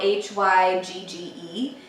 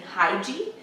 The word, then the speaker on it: hygge: It's spelled H-Y-G-G-E, and it was honestly only a few weeks ago that I actually learned the correct pronunciation of it was hygge. I think I've been mostly saying hygie, so that was a big learning lesson for